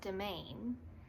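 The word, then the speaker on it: demesne: I wasn't familiar with it and it's actually pronounced domain and it refers to some sort of like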